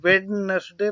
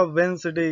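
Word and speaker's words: Wednesday: यहाँ पे इसको अगर, जी हाँ, अगर आप इसको वेडनेसडे पढ़ रहे हैं तो आप बिल्कुल गलत पढ़ रहे हैं। इसका जो सही प्रोनाउंसिएशन होगा वो होगा वेंसडे। यहाँ पे डी साइलेंट है, वेंसडे।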